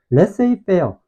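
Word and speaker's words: laissez-faire: 그렇지 어 산물 그다음에 레이어 보면 알겠지만 스펠링 발음이 좀 맞지 않지 이유는 뭐 때문이냐 이게 프랑스에서 건너온 영어라서 그러는 거거든 프랑스 말로 뭐라고는지 모르겠는데 레이어라고 읽는 단어인데 이게 자유 방임을 자유방임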